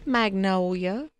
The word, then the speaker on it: Magnolia: Her name is Magnolia. Oh. And you have to say it like that. I'm just sorry. Magnolia? Magnolia. Had to say it like a Southern belle.